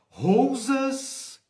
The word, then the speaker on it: Rousas: Rousas, rosa com U no meio.